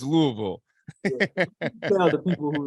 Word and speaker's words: Louisville: Yeah, so I gotta correct you. It's Louisville. You gotta say it like with your mouth full of food, man.